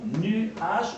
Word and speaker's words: nuage: Au lieu de prononcer nuage en 2 syllabes, on va le prononcer en 1 syllabe.